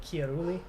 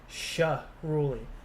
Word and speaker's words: Chiarulli: Is your surname Italian, pronounced like Chiarulli? Yes, it is. But my parents from a young age taught me to say it as Sha-Ruli. Like, they had me saying it S-H-A, like this.